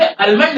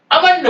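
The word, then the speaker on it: almond: है ठीक लेकिन भैया आज के बाद अल मंड नहीं है अमंड बोलना एल को नहीं बोलना क्योंकि य ए के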